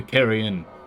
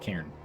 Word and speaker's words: cairn: The carrion is both a grave and a cache. The cairn. The cairn. Pronounced cairn.